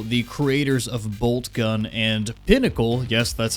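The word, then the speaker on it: Poncle: First of all, the game is being developed by Auroch Digital, the creators of Boltgun, and Pinnacle, yes, that's how that's pronounced, the creators of Vampire Survivors, which is basically the king of the survivor genre.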